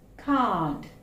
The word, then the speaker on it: car: But usually we pronounce it car. R sound is silent. It's car. So it is like this in Malayalam. Only this, car.